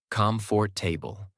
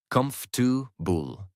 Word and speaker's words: comfortable: But when you speak it, you say comfort table. Because your mouth has never practiced the real pronunciation, native speakers say comu bull. Three syllables fast connected.